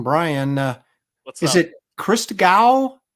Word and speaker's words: Christgau: I get Chris Gall, Chris Gann, Chris Gnu.